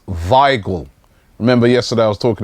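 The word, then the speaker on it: Weigl: the real gamer Creed finally says Robbie it's pronounced vigle remember yesterday I was talking about this player Julian vagel from I wasn't sure of the pronunciation he's telling me vle vagle not wiggle wiggle waggle vle all right so thank you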